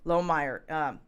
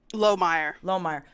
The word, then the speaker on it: Lohmeyer: This decision was based on public comments made by Lieutenant Colonel Lomer. Is that how you pronounce it? Lomeyer.